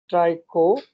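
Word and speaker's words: trichogyne: ठीक है, इसको सबसे पहले हम नाम दे देते हैं, इसको कहते हैं ट्राइकोगाइन या ट्राइकोगाइनी, वॉट एवर यू प्रोनाउंस।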